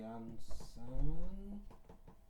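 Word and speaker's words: Iansã: They use this, how they pronounce. Iansi. So this instead should be normally would be Yansan. They use like as the Yansi.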